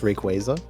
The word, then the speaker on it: Rayquaza: I have a fourstar Rayquaza. Like it it has perfect IV. Uh, actually it's pronounced Rayquaza.